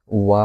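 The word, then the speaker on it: は: আমরা যখন হীরাগানা পড়ছি হীরাগানার সময় কিন্তু আমরা হা উচ্চারণ করছি বাট এখানে কি উচ্চারণ হবে একটু ডিফারেন্স এখানে হবে ওয়া উচ্চারণ এই হাটাই এখানে কি উচ্চারণ হবে ওয়া টাইপ উচ্চারণ হবে।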